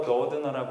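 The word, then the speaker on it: Doudna: 그래서 제니퍼 도드너라고 읽으셔야 돼요. N을 꼭 발음해 주셔야 됩니다. D와 N을.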